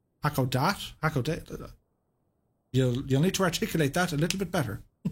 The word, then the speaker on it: Hakodate: Catbat says, by the way, it's pronounced Hakodate. Hakodate?